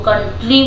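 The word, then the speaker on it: country: आर अगर Y last में हो तो उसका प्रोनाउंसिएशन बड़ी की मात्रा हो जाती है, तो वाई बोलते हैं इसको, अरे सॉरी ई बोलते हैं, तो इसको कंट्री बोलते हैं।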